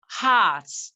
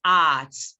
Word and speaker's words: heart: Heart, not art.